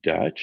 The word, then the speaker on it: DUTCH: an acronym for this which is uh utch pronounced dutch and it stands for decentralized universe there's an